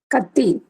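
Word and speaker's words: Kathi: I think bab sir what what is it Kati Kati in Kerala it is knife okay in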